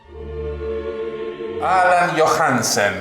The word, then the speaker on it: Allan Johansen: Allan Johansen, ¿es así? ¿Se pronuncia así?